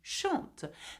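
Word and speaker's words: chantes: Though there is an s we do not pronounce the s at the end. So you say to shant.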